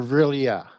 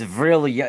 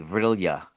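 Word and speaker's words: Vril-ya: So, now if you're looking at ver is it villim or villia? It's virilia. It's spelled v r i l d- ya. Verilia.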